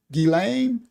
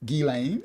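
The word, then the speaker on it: Ghislaine: She has identified Gilain Maxwell. Thank you Maya. She taught me how to say the name. Gilain. Gilane.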